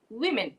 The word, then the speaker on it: women: So the correct pronunciation is, okay, this is again, man, men, woman, women, women.